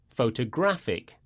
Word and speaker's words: photographic: When we say adjectives that end with IC, the stress falls on the penultimate syllable.